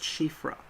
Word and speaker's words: Siofra: So, like, I know it's pronounced Shifra, but I don't know if in the game they are saying Shifra because no one says it out.